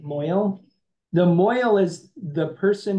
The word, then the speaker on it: mohel: It's usually written, transliterated as Mohel, like mohel, but usually people pronounce it moil.